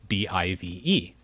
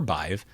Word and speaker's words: BIVE: And somewhere in between regulars and exceptions are ambiguous anchors like BIVE, which could be pronounced biv or bive, but in this case it's bive.